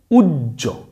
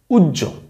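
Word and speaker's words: উহ্য: উচ্চারণটা হ থাকে না তখন তার উচ্চারণটা হবে ডাবল জ এর মত জুজ ঠিক আছে তাইলে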